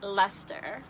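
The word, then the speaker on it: Leicester: put on there that it is pronounced lester because i couldn't figure that out but that's that's easy it doesn't look like it at all but sorry if this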